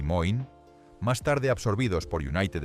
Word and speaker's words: Moen: En una década, fabricantes como Washburn y Moen, pronunciado Washburn y Moin, más tarde absorbidos por United States Steel, están comercializando agresivamente cercas de alambre a ferrocarriles y ganaderos.